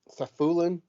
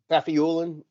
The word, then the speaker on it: Safiullin: So they had that Roman uh, Safulin, Yes. After. Yeah. Yep. Safiulin.